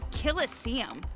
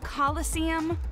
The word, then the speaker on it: Colosseum: it right there's no such thing as a Killa seeum what it's pronounced Colosseum which is an amphitheater made an ancient Rome